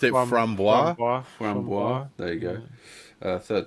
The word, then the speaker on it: framboise: And I've always framboise? pronounced it framboise.